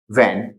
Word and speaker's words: when: ठीक, मतलब कि यहाँ पे जो एच है उसका प्रोनाउंसिएशन नहीं होगा, उसका साउंड नहीं आएगा। सेकंड अपन देख लेते हैं, WHEN वैन।